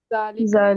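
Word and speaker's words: ذلكِ: ज़ालिका। जालिका। हाँ, दाल में जाली नरमी, ठीक है।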